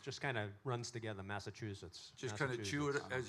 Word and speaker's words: Massachusetts: How do you say Is it Massachusetts? There's no T in it. I know a lot of people say Massachusetts, but it's no T. No, it just kind of runs together, Massachusetts.